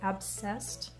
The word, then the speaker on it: abscessed: that's how that's pronounced it kind of sounds like obsessed but it's not it's abscessed and i'll show pictures